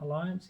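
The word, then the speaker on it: Allianz: Alliance, yep.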